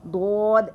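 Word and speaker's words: ض: when you feel like, when you pronounce these letters dod, dod, you will feel our two edges of the tongue expands and it touches the upper jaw, the both jaws of our mouth.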